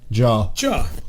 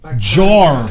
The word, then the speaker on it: jar: talking like that really how do you say the word jar jaw yeah there's a r at the end jaw jaw jaw jar jar jar binks you